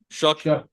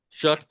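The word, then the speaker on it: Shough: brought up uh Tyler Shook, how do you pronounce it? Guy guy from Louisville. Shook. Shook.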